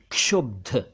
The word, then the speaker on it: क्षुब्ध: क्षुब्ध यानी नाराज एजिटेटेड शुब नहीं शब्ध नहीं क्षुब्ध एक शब्द है क्षेत्र यानी